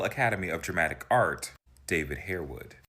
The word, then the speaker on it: Harewood: of Dramatic Art, David Harewood. I much prefer the pronunciation they use in the movie Downton Abbey when they call it Harwood. It just sounds more sophisticated, but I move on.